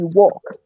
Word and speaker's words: walk: to do this mistake when you say talk or walk remember not to use the o yell completely disappears from the pronunciation so you say talk or you say walk Noel that's it so